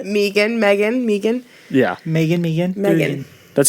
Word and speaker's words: M3GAN: it it's called Megan Megan Megan yeah Megan Megan that's how it's pronounced yeah it's proned my game yeah um